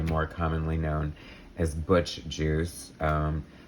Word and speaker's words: Guice: commonly known as butch juice um i swear to god i think it's pronounced juice it looks like guys